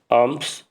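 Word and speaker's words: alms: 27 28 देखिए ही गव आर्म टू the bigger arm नहीं होता है आर्म्स होता है आर्म्स इसको एल साइलेंट एल को हम प्रोनाउंस नहीं करते हैं तो क्या हो जाएगा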